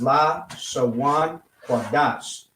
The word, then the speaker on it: Lashawan Qadash: in English, this is how it would be pronounced: Lashawan Qadash.